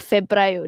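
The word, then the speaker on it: febbraio: Tapi disebut Febrio. Okey, Febro. Double B. Febra.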